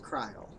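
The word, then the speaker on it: Krile: kreil's name is pronounced kryol in japanese it's just prance krill like the fish i like to alternate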